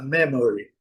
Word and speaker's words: memory: Outra, a memory, nós nós falamos, né, por temos uma palavra praticamente igual, memória. E nosso nossa acentuação tônica é aqui a deles, não. A centuação tônica na primeira sílaba.